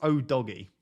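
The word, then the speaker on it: Udogie: 4.5 million pound Defender I've looked up how to pronounce his name apparently it's oh doggy sounds a bit strange sounds a bit sus to be honest but we're gonna go with oh doggy here at 4.5 actually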